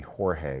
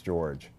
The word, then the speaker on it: Jorge: began to call me jorge which my name is spelled j-o-r-g-e it's scottish it is not jorge it's george i know if you